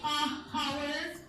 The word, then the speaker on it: hour: Do we say hour? No, we don't. We say an Hour. Why do we Hour say not. an Hour. This again is silent, and this is my first word, that is which is again a vowel.